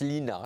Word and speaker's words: Lene: Voilà, alors c'est un prénom d'origine norvégienne, on prononce Lina, c'est assez étrange alors que ça s'écrit Len en effet.